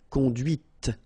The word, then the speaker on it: conduite: and then the feminine, conduite. Okay, so here you can listen to this t, okay, conduite, all right?